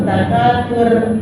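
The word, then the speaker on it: التكاثر: Tur tafkhim, tur jangan sur. Alhaakumut takatsur, jangan salah begitu.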